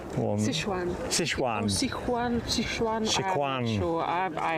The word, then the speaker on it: Sichuan: So, is that the Shishwan one? Sichuan.